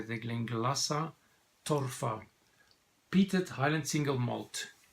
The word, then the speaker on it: Glenglassaugh: the gleamed Lhasa distillery I always thought it was think it is lingula so but then the guys at their distillery say is it now you pronounce it clink lhasa so now I know better they Glinka lhasa thoughtful